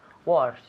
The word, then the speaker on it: worse: repeat to get worst worse not worst yes to get worse okay to get worse